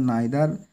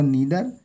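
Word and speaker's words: neither: যখন অর্থে আসে তখন নাইদার নর বা নিদার নর আমরা ইউজ করে থাকি ঠিক আছে উচ্চারণটা নাইদার অথবা নিদার দুটোই সহি হিদার বা নিদার প্রোভাইডেড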